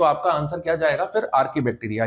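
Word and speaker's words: Archaebacteria: कुछ लोग इसका प्रोनाउंसिएशन आर्ची बैक्टीरिया करते हैं। तो याद रखिएगा CH जब कभी आए साइंस में, साइंटिफिक टर्म्स में, तो आपको इसका प्रोनाउंसिएशन क्या करना है? क, चा नहीं बोलना है।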